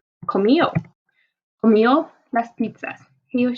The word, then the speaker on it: comió: Now note that the accent is on the O, not on the I like it is in the yo form. So here we would say comió.